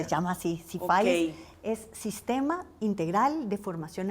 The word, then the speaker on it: SIFAIS: Y lo que quiero es que me diga por qué se llama Sifis, así se pronuncia. Sí, se llama así. Sifiz.